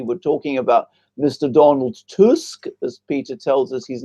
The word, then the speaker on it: Tusk: Donald Tusk as Peter tells us his name should be pronounced before and believers heard the things he